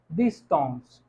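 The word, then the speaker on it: distance: हम प्रोनाउंस कैसे करेंगे, डिस्टॉन्स। डिस्टॉन्स क्यों, क्योंकि ई के साथ आ रहा है सी, तो डिस्टॉन्स।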